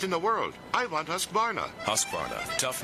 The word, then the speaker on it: Husqvarna: now how to say husqvarna you say husk like corn and vine like varnish without the ish and nah